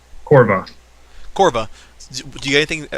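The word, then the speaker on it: Korva: Corva.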